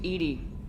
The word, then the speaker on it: EDI: Why are you named EDI? ED is the phonetic pronunciation of EDI.